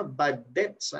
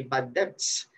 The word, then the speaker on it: bad debts: Okay By the way pronunciation dito ha bad debs silently hindi bad debts Okay so Ito naman